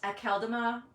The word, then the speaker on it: Akeldama: of lordopodama's name is which I think actually is pronounced at kaldama but I'm not sure on that because